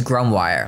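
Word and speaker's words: Grumboire: I think it's grumwire, like memoir, grumwire.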